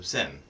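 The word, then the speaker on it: Zehn: So it's Zahn. Is that how you pronounce it? Do I have it right? I mean, okay, it's a German word for 10. So I guess technically it's pronounced T-S-C-E-E-N. So sen.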